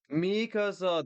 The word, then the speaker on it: Mikasa: Blake versus Mikasa. Mikasa. It sounds like I'm trying to say my house. Just in case you don't know, Masa means uh my house in Spanish.